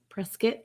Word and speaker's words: Prescott: is it really said it said press skit is so like uh like a kitten people spell it here i'll spell it it's spelled prescott it's spelled prescott but people say it press uh okay press get like press kitten yes like that i